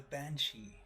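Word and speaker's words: bean sí: the banshee roams the countryside and can be heard wailing when she predicts of death the word banshee comes from the irish beaten sea pronounced ban she which translates as woman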